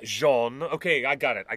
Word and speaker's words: Jean: So, yes, it's Jean. But if you're going to call me the French pronunciation, it's actually Jen for females. Bjen as in Genevieve. Genevieve. Jen, not Jean.